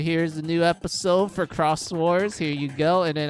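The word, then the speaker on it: Xros Wars: when Cross came out I didn't know it was read as Cross Wars I thought it was Digi Xcross Wars.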